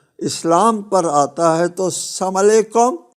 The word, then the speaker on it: السلام علیکم: تلفظ کہتے ہیں، گڈ مارننگ کہتے ہیں، صحیح تلفظ کرتے ہیں۔ یہ اسلام پر آتا ہے تو السلام علیکم، سالکم، والسلام۔ یہ ہے بدقسمتی ہماری، انتہائی بدقسمتی ہے